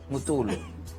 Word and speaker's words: Matolo: Is it Mutolo? Mutolo. Yeah, all right. Thank you for that correction there. To pronounce it in Deep Sotho, all the way from the Mountain Kingdom there.